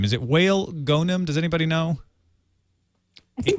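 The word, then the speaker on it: Wael Ghonim: Is it Whale Gonim? Does anybody know? I think they were saying in the video Gonim. It's Whale Gonim.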